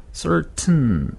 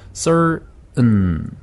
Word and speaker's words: certain: certain 이렇게 하면 튼 하면 T가 그러니까 혀끝이 살짝 떨었다가 딱 붙는 느낌이 와요. 튼. 네. 한번 해볼까요? 튼. 그러면 딱 혀끝이 떨었다 붙는 느낌이 오죠. 네. 근데 은 해버리면 혀끝이 안 떨어지죠. 네. 그래서 certain. certain. certain. certain. 네. 그게 이제 certain 대신 certain 이렇게 하는 거고요.